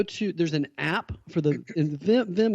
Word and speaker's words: Wim: If you go to, there's an app for Vim is spelled W-I-M, but Wim, so if you say it phonetically, Wim Hof method, there's an app for